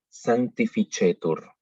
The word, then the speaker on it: sanctificetur: Así que la C, cuando está seguida de E o de I, la pronunciamos ch. En el ejemplo que tenemos ahí, sanctificetur.